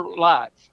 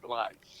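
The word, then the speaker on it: Leutz: Lights. L E U TZ. But you pronounce it just like a light bulb. Lights.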